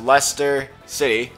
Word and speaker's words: Leicester City: to any ESPN, any sport, you know that Leicester City, which, by the way, is pronounced Leicester City, in Iowa. People are dumb, and they don't know how to pronounce that correctly, but, yeah, Leicester City won the title, the Premier League title.